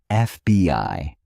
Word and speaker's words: FBI: FBI is pronounced FBI. So the first sound is a vowel and an is used.